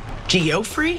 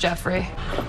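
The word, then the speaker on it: Geoffrey: got one is it geofrey it's pronounced Jeffrey but it isn't spelled that way now is it you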